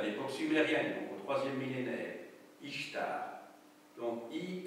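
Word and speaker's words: Ishtar: c'est en fait le temple de la déess ichtar dont j'ai pu vous parler au mois d'octobre vous la déesse de l'amour et de la guerre en Mésopotamie DESS quionte à l'époque au 3è millénaire ichtar donc i s t a r alors vous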